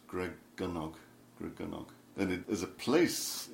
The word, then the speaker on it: Gregynog: with the pronunciation Dragonic the pronunciation welsh is always on the penultimate syllable so it's good dog